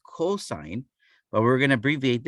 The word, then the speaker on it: cosine: The second one is not going to be cos. It is still going to be pronounced cosine, but we're going to abbreviate it using only the first three letters.